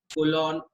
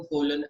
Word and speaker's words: colon: कोलन को कोलन या कोलॉन, दोनों प्रोनाउंसिएशन करेक्ट है।